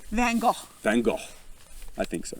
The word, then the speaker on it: Van Gogh: If you're Australian, it'd be like Van Gogh. It's like some rhymes with mango. Mango and Van Gogh.